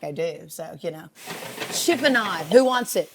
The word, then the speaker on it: chiffonade: So, chiffonade. Who wants it? Chiffonade.